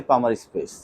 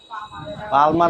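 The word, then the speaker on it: palmar: এপনরসিসের নিচে একটা স্পেস আছে সে স্পেসটাই হচ্ছে পামার স্পেস কি স্পেস পামার স্পেসার পালমার বলে না উচ্চারণটা এল এর উচ্চারণ হয় না ঠিক আছে তাহলে দেখো সেপটাম কি?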